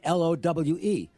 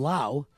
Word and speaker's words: Lowe: Rays have two guys who spell their name Lowi on their roster they're not related one is Brendan Lau you pronounce it lol o w e but he